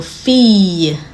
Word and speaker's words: fille: When you have 2 L's in a word, it's pronounced ye. For example, fille, famille.